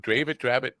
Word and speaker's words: Dravet: Now this Dravet, is that how you pronounce Dravet syndrome?